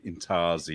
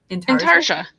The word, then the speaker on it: intarsia: Intarsia. So it's the "je" at the end, Intarsia. That's how you say it, is it?